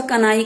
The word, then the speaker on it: कन्हाई: था बंगाल में, तो बंगाली भाषा में वो उच्चारण उसका कन्हाई कहते हैं, तो इसलिए कन्हैयालाल दत्त उनका नाम पड़ा।